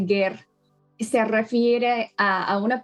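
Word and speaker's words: גר: No aquí la palabra ger o ger se pronuncia ger se refiere a a una persona que no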